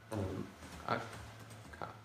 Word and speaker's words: akka: Double consonants are always pronounced separately. Okay. Akka, for example, you would always pronounce it as akka.